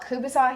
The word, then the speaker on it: kielbasa: We call it kubasa here, so I think it's kielbasa is how you pronounce it in a lot of other places. And so you put that in, and then a full jar of sauerkraut.